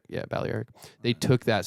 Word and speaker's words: Balearic: I like Balearic.